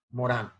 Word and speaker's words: Morin: la pronunciación nomás en francés es Morán, pero se escribe Morin, entonces.